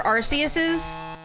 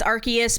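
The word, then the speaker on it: Arceus: The only Pokédexes I filled out were Arus's. Archus. I It's Archus, but the anime pronounces it Arus, which is stupid cuz that is British for ass.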